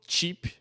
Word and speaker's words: chip: t a mais aqui pro chip de barato e feit tá com i o i Comprido chip chip Pit do